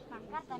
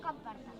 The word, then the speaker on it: pancarta: Pancarta, no camparta.